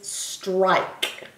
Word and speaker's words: strike: strike ER I foreign the silent e or the magic e whatever you want to say it e is making that I say its name it's not e it's not a short vowel sound it's a long vowel